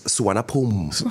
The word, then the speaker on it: Suvarnabhumi: Okay, it's a bit rarer in Bangkok because How do you Bangkok's pronounce the name of the got so many airport again? travelers. Suvarnabhumi.